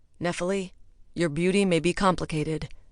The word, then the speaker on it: Nephele: Nephil rhymes with especially is what mom used to tell me to tell people.